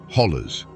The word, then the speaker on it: hollow: They are ancient eroded walls that create a labyrinth of valleys, ridges, and hollows, or as the locals say, hollers.